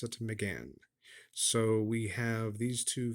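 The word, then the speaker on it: Mégane: pronounce that it looks like it should be Megan but uh over in Europe they pronounce it to Megan so we have these two vehicles let's take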